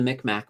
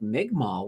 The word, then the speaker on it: Mi'kmaq: So, Mi'kmaq is how it is. And I'm like, okay. And here's the funny thing. And this is kind of my response to this. I've been calling them the Micmac my entire life, and nobody ever corrected me.